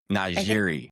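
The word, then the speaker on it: NiJaree: How do you pronounce her name? Najiri. Najiri Kennedy.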